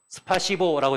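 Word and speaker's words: спасибо: 이게 러시아 말로 S자고 이게 P 발음이에요. 그래서 스파시보라고 되는 거예요.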